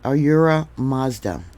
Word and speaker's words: Ahura Mazda: Here we have Ahura Mazda. Yeah, Mazda like the car.